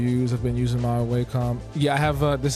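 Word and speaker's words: Wacom: I've been using my waycom yeah I have a this is a I don't never knew how to pronounce this thing wcom or wack but it's a wcom 16 Pro HD I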